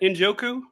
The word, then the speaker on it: Njoku: Injoku.